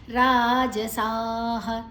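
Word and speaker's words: ರಾಜಸಾಃ: ಮುಂದಿನ ಅಕ್ಷರ ತಿ ಇದೆ ರಾಜಸಾಹ ರಾಜಸ ಜ ಮಾತ್ರ ಹೃಸ್ವ ಉಳಿದದೆಲ್ಲ ದೀರ್ಘ ಅಕ್ಷರಗಳು ಮತ್ತೆ ವಿಸರ್ಗದ ಉಚ್ಚಾರಣೆ ಹ ಜ ಘನ್ಯ ಜ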